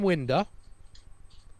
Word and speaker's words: Winder: I asked Scott how do you pronounce his name before this, and he said Winder.